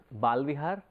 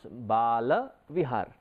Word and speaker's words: Bala Vihar: Sometimes we tend to mispronounce it and we say it is Bal Vihar. The moment you say Bal Vihar, it is a Sanskrit word, or you understand it in Hindi.